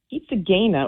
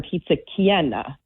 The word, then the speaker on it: pizza chiena: But Pizza Gaina or Pizza Gain, it's another term that's kind of like a blurred pronunciation of the Italian term Pizza Chiena or Pizza Cana, which is in itself a Neapolitan dialect word.